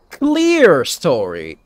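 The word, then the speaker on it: clerestory: the hell is that it's actually pronounced clear story this is not how you pronounce clear though clear story well I guess they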